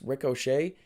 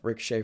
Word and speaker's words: Ricochet: The Ops, that's Samoa Joe, Katsuyori Shibata, and Powerhouse Hobbs facing off against Ricochet. I say it like he's an Irish guy named Rick O'Shea.